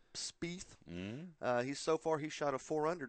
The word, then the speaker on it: Spieth: Spieth.